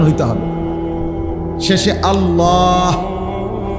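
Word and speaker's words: الله: শেষে আল্লাহ। শেষে একটা গোল হা আছে ছোট হা। আল্লাহ মানে আল্লাহু তো হুটারে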